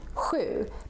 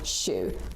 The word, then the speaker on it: sju: So for example, the number 7 in Stockholm would be more like sju, but maybe in the north they say more sju. Both are correct, but it's good to